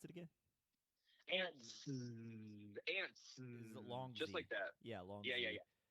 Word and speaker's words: Antz: Is how you pronounce it with his buzz, soft buzz. How you pronounce it? Yep. Yeah, how do you pronounce it again? Antz.